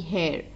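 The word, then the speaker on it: hare: And this hair, H-A-R-E, hair, this means a rabbit. Rabbit is also known as hair. So both are pronounced same, but the meanings and their spellings are different.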